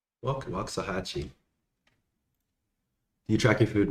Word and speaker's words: Waxahachie: Come to Waxahachie, Wakahaki. How do you pronounce that? Wakahaki. What if I've been muted this whole time and you guys are just pretending to hear me? Waxahachie. Waxahachie.